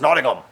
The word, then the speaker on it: Nottingham: And they got mad when I would say Nottingham. Nottingham. It's not, we're not walking around with a big ham. It's Nottingham.